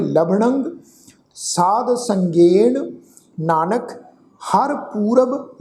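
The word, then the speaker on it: ਲਭਣੰ: लभणंग लला भब्बा नाणे दे उत्ते टिप्पी की मात्रा उच्चारण करांगे लभणंग साध संगेण नानक हर पूरब लिखना है।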